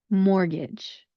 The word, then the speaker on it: mortgage: Mortgage. Our next word is a little bit easier to pronounce, but it still has a silent letter, and that is island.